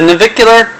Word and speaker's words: navicular: wrong if I don't look at it the navicular which is right in front of the talus on the foot so these are the toes we have the navicular right here and if you want to see